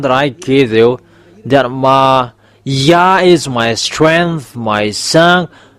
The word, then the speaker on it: Yah: read it together, the result is y a h it's y. So if we read it, it's yah. Oh, it becomes redder. That's it. Have this. Yeah. How to read it. Yah is the way how to read it. So remember it well. When you say this y and hey, it's yeah how to read it. You don't go far away. You say yeah.